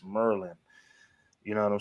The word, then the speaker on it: Maryland: Merlin the cat's from Maryland they'll be like man it's not Maryland it's Merlin you know what I'm